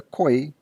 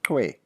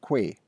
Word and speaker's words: Khoi: The Khoi, to be accurate, being generally mispronounced as Khoi instead of Twe or Kwe.